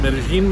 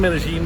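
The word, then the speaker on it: Medellín: Medellin, Medellin, Medellin.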